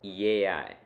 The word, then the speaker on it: yei: The word for I am is yei, pronounced ye-I. The I has an accent on it, so pronounce that as the loudest sound.